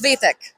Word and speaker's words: Svetek: So it's Svetek. Svetek. Not quite. Ah, It's Slovenian. We have weird vowels. It's fine. no, we got to learn. As a person who also has an Asian name, I'd rather pronounce it correctly. So hopefully you know how to pronounce it in the There's a future. narrow E. That first E. It's tricky.